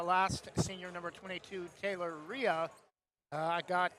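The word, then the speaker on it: Reha: We've been pronouncing the hard H, but the H apparently is silent. Taylor Ria, a 56 senior post and number 23, Clarissa Schirts, a 6 foot junior post.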